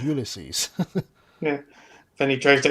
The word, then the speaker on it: Ulysses: Useless pretty much sums you up. Actually, it's pronounced Ulysses.